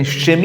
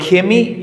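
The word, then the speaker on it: Chemie: ക് ആയിരിക്കുംദ കറക്ടർ ക്രിസ്തുകോസ് അല്ലെങ്കിൽ കെമി കെമി എന്നുള്ളതിന് ക്ഷമി എന്നും പറയാറുണ്ട് അപ്പോൾ കെമി എന്നുള്ളതാണ് ഇതിൻറെ യാഥാർത്ഥ്യത്തിലുള്ള ഒരു ഉച്ചാരണം എന്ന് പറയുക അപ്പോൾ ഈ ക്ലാസിലൂടെ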